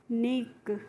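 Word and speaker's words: unique: क्यू यू ई तो इसको पढ़ते हैं यू यूनिक यूनिक क्यू करके नहीं पढ़ते हैं यूनिक पढ़ते हैं।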